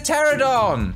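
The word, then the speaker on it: Pteranodon: no scoping he's he dead now it's a pterodon with a silent p where the where are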